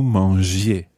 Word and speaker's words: mangiez: Nous mangions, vous mangiez. Now, I works the same way in French as E. It keeps the G soft.